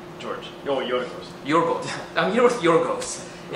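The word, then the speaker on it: Γιώργος: Oh, Yorgos.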